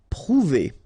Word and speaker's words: prouver: Prouver. Okay, O and U together, ou.